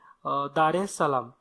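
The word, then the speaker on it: Dar es Salaam: जर विचारा ती आहे दारे सलाम ओके तर इथं दार आणि नंतर इस सलाम असा त्याचा प्रोनाऊन्स आहे किंवा असा त्याचा स्पेलिंग आहे ओके तर दारे सलाम म्हणलं तरी चालेल पुढचा प्रश्न बघू ह्याच्यामध्ये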